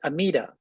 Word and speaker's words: Amida: The Japanese pronunciation of the Sanskrit is Amida.